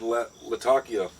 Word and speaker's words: Latakia: I was really expecting a strong Oriental and Latakia.